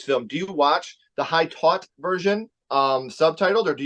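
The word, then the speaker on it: Haute Tension: defending today we're defending the French film called high taught that's how they say it in French but we say it high tension also known as switch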